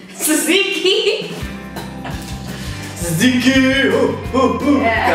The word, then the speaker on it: tzatziki: Tenzayaki? Tzatziki.